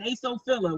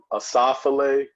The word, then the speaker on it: Asophile: I said Asophila. What is it again? It's no problem. Everyone does that initially. It's called Asophile Books.